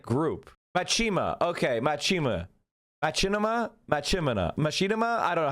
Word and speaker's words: Machinima: Okay, Machinima. Okay, thank you. Thank you for the pronunciation guide. Machinima.